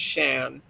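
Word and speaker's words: Siân: And that's what her friends call her because her name is Welsh. It's Shan, and most people can't pronounce that, so it would be natural to call her Sîan, which is a Welsh word.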